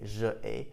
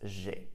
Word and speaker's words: j'ai: This is because it's easier for us to pronounce. It would be a lot more difficult to say je ai rather than just j'ai. If we say j'ai, there's a bit more of a melody to it.